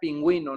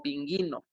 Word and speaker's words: pingüino: En este caso, ge, gi, para indicar que dicha vocal debe pronunciarse, es decir, la U. Por ejemplo, cigüeña, pingüino, ¿no? Era lo que estábamos viendo en la clase pasada. Es por esto que la diéresis tiene una importancia en su pronunciación en esta sílaba en la U para poder diferenciarla de otras palabras, si no diría cigueña o pinguino.